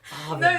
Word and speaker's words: Abend: Guten Abend or Abend. No H.